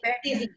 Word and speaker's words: stevia: What's the pronunciation of it? It should be stevia. Yeah, it should be, in English it's stevia.